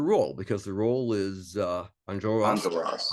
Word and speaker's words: Enjolras: So let's talk a little bit about your role, because the role is Enjolras. Enjolras. I keep wanting to put the accent on the wrong syllable.